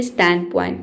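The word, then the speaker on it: standpoint: अब यहां पे स्टैंड नहीं बोलेंगे। स्टैंड पॉइंट डी साइलेंट है।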